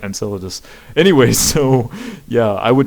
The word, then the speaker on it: Enceladus: to europa and synthesis and enceladus i'm sorry i mispronounced that enceladus anyway so yeah i